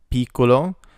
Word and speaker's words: piccolo: Piccolo, the I makes an E sound, piccolo, small.